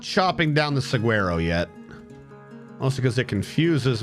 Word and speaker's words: saguaro: Saguaro is actually pronounced saguaro. There is no G sound. Nah, that's wrong. That's completely wrong. It's saguaro. Spanish, not British. The G is often silent in Spanish.